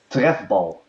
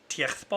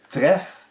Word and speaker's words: trefbal: And how do you pronounce it in Dutch? Trefbal. Oh gosh, Tiechtbal? Tref. Trefbal.